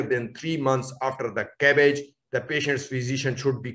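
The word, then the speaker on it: CABG: a coronary artery bypass crafting are usually pronounced as a cabbage in general with respect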